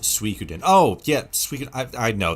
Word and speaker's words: Suikoden: Pronounced Suikoden.